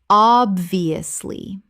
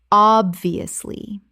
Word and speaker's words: obviously: Common mispronunciation, obviously. Correct pronunciation, obviously. In natural speech, this is often compressed to obviously.